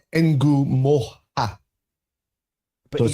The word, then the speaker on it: Ngumoha: so So it's Ngumoha.